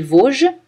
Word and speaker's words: Vosges: Le S ne se prononce pas dans les Vosges.